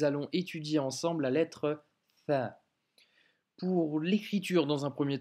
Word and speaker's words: ث: fois, ça sera un Tha. Pour la prononciation, cette fois, à ne surtout pas confondre avec un F de la lettre Fa, car ça, c'est vraiment une autre lettre.